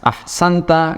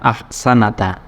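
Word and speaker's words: أَحْسَنْتَ: Ahsanta, bukan ahsanata. Ingat ya. Jadi ini seandainya kok tidak ada harokatnya, tetap kita bisa membaca karena di akhirnya itu adalah dhamir yang menunjukkan pelakunya, yaitu kamu. Jadi bahasanya bukan ahsanata tapi ahsanta.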